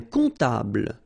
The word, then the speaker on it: comptable: Un comptable, so O-M, remember it goes like on, all right? And then, strangely, this P is not pronounced.